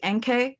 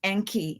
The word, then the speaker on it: Enki: I always say NK. It's Enki, and y'all be making fun of me.